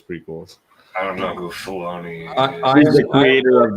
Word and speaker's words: Filoni: It looks like it should be called Filoni, and if it's Filoni, and you know that anybody whose name rhymes with baloney is somebody.